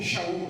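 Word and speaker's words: שאול: Então o nome do Paulo era Saul, Shaul, né? Uma pronúncia mais própria.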